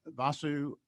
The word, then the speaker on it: Vasu: Vasu, looks like it might be Abraham. I can't, not sure how you pronounce it. Vasu is fine, and that's perfect pronunciation.